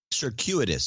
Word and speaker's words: circuitous: was knighted circus roots sir how do I pronounce this cui T pto us sir circuit circuit circuit juice circuitous circuitous Thank You circuitous what a circuitous mean